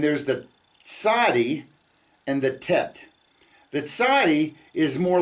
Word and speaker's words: ט: in tar okay um and the the letter tet and the letter T in English we would pronounce that with a very a hard T where you put your tongue at the back of your teeth tet t but in Hebrew it's the softer uh